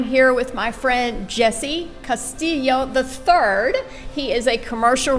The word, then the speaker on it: Castillo: yes ma'am Paradigm commercial group and thanks for pronouncing the last name right it is Castillo III and thanks for having me today yeah